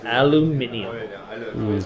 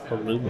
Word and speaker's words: aluminium: team Covenant aluminium tokens aluminium you know in this country we call it aluminum aluminum because we're dumb but that's okay we talk about I I am German I can pronounce either way I could go either way we're the flexible country